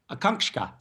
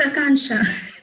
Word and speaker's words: Akanksha: Akanksha. How do you say your name? That was awful. It's Akansha. It's Akansha.